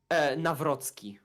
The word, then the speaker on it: Nawrocki: What's the correct pronunciation? Nawrocki. Nawrocki.